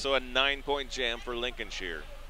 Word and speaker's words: Lincolnshire: a nine-point jam for lincol Shear or Lincoln Shire Lincolnshire sh oh I said it right Lincolnshire you can always